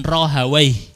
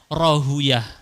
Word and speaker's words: Rahawayh: Bersama kawannya yang setia bersama beliau, salah satunya Ishaq bin Rahawayh. Orang ahli bahasa bacanya gitu, orang ahli hadis bacanya Rahuyah. Ada dua versi, Ishaq bin Rahawayh atau Ishaq bin Rahuyah.